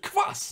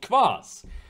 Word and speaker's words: Kvass: This, like, you know, I have a Russian friend, and he, you know, Kvass is like it's spelled Kvass, right? It's Kvass. So obviously, I will call it Kvass, not Kvass.